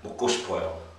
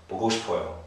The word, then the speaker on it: 먹고 싶어요: Okay, my tip for pronunciation is just make it as flat as you can. 먹고 싶어요. 먹고 싶어요. Okay, don't try to put too much stress in anywhere.